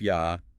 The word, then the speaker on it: Yah: It is usually pronounced Yah as in the word hallelujah, which literally means praise Yah.